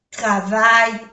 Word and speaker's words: travaille: Travail se pronuncia así, no se pronuncia la E.